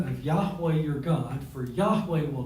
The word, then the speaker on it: Yahweh: should be in there you would pronounce it Yahweh y-a-h-w-e-h and you've probably